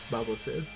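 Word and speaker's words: Baobhan Sith: I call her, I pronounce it similar to Babo Frick, the character from everyone's favorite Star Wars movie.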